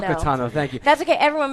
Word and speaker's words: Ahsoka Tano: Asuka Tano, that's the right way to pronounce it? Oh, no, it's hard. It's Ahsoka Tano. Ahsoka Tano, thank you.